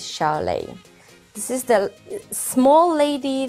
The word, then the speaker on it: Xiu Lei: And I am talking about Xiu Lei, or as I think the name is pronounced in Chinese, is Xiu Lei.